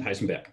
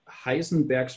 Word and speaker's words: Heisenberg: ideas Heisenberg and pudding I pronounce the names of both in German because they were German guys Schrodinger and Heisenberg yeah Heisenberg catched on